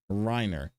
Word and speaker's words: Reiner: on the fact that I pronounced it wrong last time. So, I am sorry. It is Reiner.